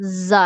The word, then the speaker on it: ز: زا زا, جب ہم زا پروناؤنس کرتے ہیں تو ہماری جو زبان کی نوک ہے وہ اوپر والے اور نیچے, آپ اوپر والے اور نیچے والے دانتوں کو جوڑ لیں اور اس کے پیچھے جو زبان کی نوک ہے ان کے پیچھے لگتی ہے تو زا ادا ہوتی ہے.